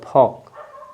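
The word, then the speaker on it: folk: बाद के है तो आपका य एल साइलेंट हो जाएगा फॉक अब देखेंगे यहां पे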